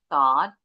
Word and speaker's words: thought: Nah, ini yang ini GH-nya silent. Jadi enggak bunyi bunyinya ketik.